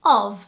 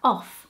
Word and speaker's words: of: me how to say the word of which is basically the letters o and F and to me that would instinctively sound like off and many times we'd